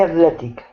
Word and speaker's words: athletic: Athletic. Athlete. He's an athlete. They add an extra syllable in there, which doesn't belong.